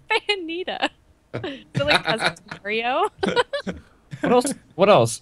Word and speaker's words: Bayonetta: Why are you just mispronouncing everything? Bayonetta. It's Bayonetta.